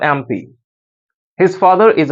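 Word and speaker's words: MP: आ गया है तो अगर आप इस एम को प्रोनाउंस करते हैं एम को अगर आप प्रोनाउंस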